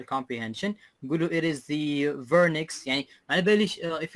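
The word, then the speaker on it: Wernicke: it's better to say vernix. صحيح؟ If you know in German we say the W, we call it the V.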